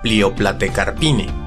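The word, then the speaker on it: Plioplatecarpinae: El diptongo AE se pronuncia como E, la Pliopletecarpine.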